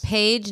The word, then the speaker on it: Paige: well first of all that's not how you normally spell that name yes it is page no p-a-g-e no that's how you spell what's in a book that you read p-a-i-g-e yeah that's how you spell the name page call page in boone